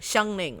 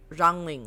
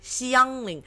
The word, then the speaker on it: Xiangling: So like people like usually if I talk to my friends they pronounce her like Xiangling like or Rangling or something, but like Rangling doesn't make any sense because her name is